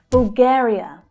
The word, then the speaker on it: Bulgaria: Bulgaria, Bulgaria. Bul, bul. That's an unstressed syllable. Bulgare, Bulgare. The second syllable there is the stressed syllable.